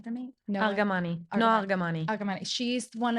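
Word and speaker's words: Argamani: no and I don't want to say her name wrong can you say her last name for me no aramani no aramani aramani she's one of the hostages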